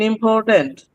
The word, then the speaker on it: important: con is stress syllable in important port is stress syable.